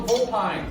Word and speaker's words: vulpine: Coney Bear, please spell vulpine.